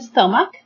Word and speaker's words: stomach: Then we have the word stomach. Stomach. Here we can divide this word into 2 syllables.